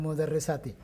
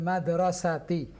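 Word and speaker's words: مدرسة: Iya, bukan mudarrisati, tapi madrasati.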